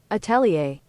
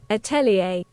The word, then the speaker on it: atelier: Attelier. Attelier. Right. That's America. What's British? Italier. Atelier. It's the same thing.